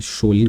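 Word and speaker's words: Kjølen: ये कुछ प्रोनाउंसिएशन इसका CHOLEN, शोलन कहा जाता है इसे।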